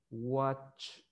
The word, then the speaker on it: watch: Entonces, si se fijan, el segundo tiene una T, pero esa T no se va a pronunciar completamente. Esa T usted se detiene antes de la explosión de la T, porque la T se pronuncia T. Entonces, antes que usted haga ese sonido de T, usted se detiene y después dice ch.